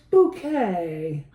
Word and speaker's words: Bucket: It's bouquet. And how do you spell that? B-U-C-K-E-T. Oh, bucket!